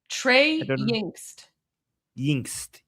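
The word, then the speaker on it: Trey Yingst: Um, how do you pron this guy is great by the way, Goldie, how do you pronounce his name? Trey Yinst.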